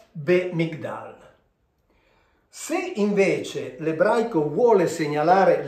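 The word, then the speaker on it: בְּמִגְדָּל: Qui leggiamo be-mig-dal, cioè questa qui si legge, siccome c'è questo puntino, questa qui diventa una B, quindi be-mig-dal.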